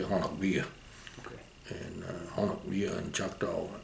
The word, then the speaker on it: Honobia: Yeah, it's they pronounce it Honeby. Most people do, but it's actually Honobia.